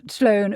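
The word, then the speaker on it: Tlön: I say it in English. Sloan Ukbar Orbis Tertius.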